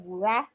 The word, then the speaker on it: Wura: It's it's just wurah. Wura is wurah, you know.